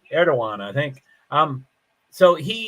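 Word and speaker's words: Erdoğan: there's no runoff so erdogan there's a D in there but it's pronounced as a w I think erdogan I think um so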